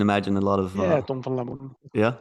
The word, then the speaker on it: Tom van Lamoen: Is it proper pronunciation? I can imagine a lot of... Yeah, Tom van Lamoen.